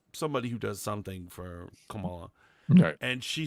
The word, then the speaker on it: Kamala: I can't repeat it say it the correct way Kamala you racista Kamala that